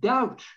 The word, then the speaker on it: doubt: It's not debit, doubt. So if it was spelt D-O-U-T, if you were to write that and pronounce it how you see it, that's how you would pronounce it, doubt.